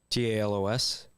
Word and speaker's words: Talos: Did I pronounce that right? Talos.